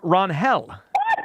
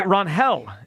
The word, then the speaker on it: Ranger: Um, Hugh Ranger Suarez clarified today that we have been pronouncing his name wrong for his tenure in the major leagues. Uh, it's actually Ron Hel. R-Hel is Oh, get the hell out of here. Yeah, it's Ronell Suarez, not Ranger.